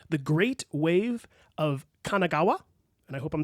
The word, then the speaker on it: Kanagawa: thinking about was called the great wave of Kanagawa and I hope I'm saying that correctly Kanagawa is right and it was by an artist